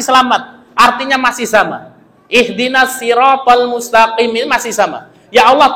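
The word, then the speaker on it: الصراط المستقيم: Siratal mustaqim pakai shad. Kalau bacanya pakai sya, siratal mustaqim, sirat itu artinya adalah gergaji besi.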